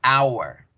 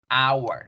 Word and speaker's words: hour: Pero ni en español ni en inglés la H suena. Entonces, cuando yo digo la palabra hora en inglés, yo digo hour, hour.